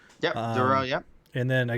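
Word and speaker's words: Durow: Duro.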